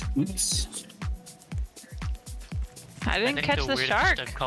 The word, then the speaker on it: Hutts: Hurts. Actually pronounced Hoots.